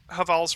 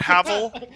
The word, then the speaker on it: Havel: I think if it matches Haval's ring for equip load, I might wear it instead. I think Havel's ring is now you're making me pronounce it like Havel. Oh, is it Havel?